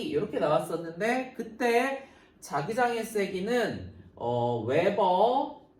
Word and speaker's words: Wb: 웨버 WB 웨버라고 읽기로 했다.